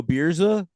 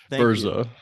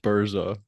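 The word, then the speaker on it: Birza: Well, great job, Bersa. Oh, is that how you pronounce that? Yeah, I think you're thinking about Well, sounds like beers, bro. No, Bersa.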